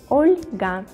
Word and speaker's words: Olga: mikhail mikhail oscar olga olga with the soft pronunciation the letter el olga my germany friends will